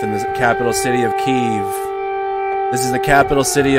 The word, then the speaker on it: Kiev: they're awake now it is pronounced kiev 100 pronounced kiev oh i forgot my